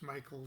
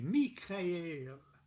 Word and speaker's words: Michael: the archangel michael and we know when we pronounce michael in in uh ceremonial magic rituals and things we usually say mikhail but uh for some reason i'm inclined to